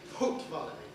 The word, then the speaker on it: Haute Vallée: Well, I'm saying it in a Jèrriais way. You could pronounce it in a French way, I suppose. But one of the differences between French and Jèrriais is we've got a H. So that's why we say Haute Vallée.